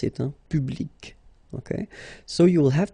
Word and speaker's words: public: So public at the masculine form, feminine form, public, the same.